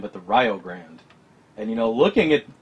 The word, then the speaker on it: Rio Grande: But they actually say not the Rio Grande, but the Rio Grande.